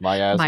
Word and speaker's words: miasma: The air within the mansion was oppressive, as though a black Okay, I don't know how to pronounce this word. Miasma.